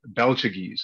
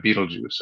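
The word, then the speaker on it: Betelgeuse: just starting out, like, I would call it like Belchagese instead of Beetlejuice, right?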